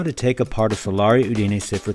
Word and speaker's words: Solari: it's made in Italy the way the Italians pronounce it is this hello flip clock fans my name is and I'm a native Italian speaker this is how you pronounce the name of the O Grail of flip clocks in Italian solar so what I want